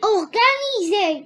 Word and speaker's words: organisé: organiser organisé pourquoi on tu as prononcé S comme Z parce qu'il de voyal très bien parce que S se trouve entre deux voyelles la première voyelle c'est i la deuxième voyelle c'est e très bien alors nous